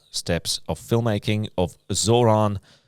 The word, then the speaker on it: Zoran Veljković: talking about five steps of film making of Zoronovich.